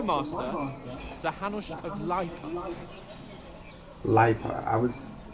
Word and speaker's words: Lipa: Lipa. I was pronouncing that shit all wrong last game.